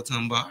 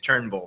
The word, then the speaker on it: Turnbull: Tumbar. How you doing today? Did I say the last name right? How do you say the last name? Turnbull. Turnbull. I said it wrong.